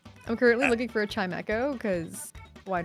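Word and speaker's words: Chimecho: a lot of people say it as Chime Echo, but a That's lot of probably people also correct.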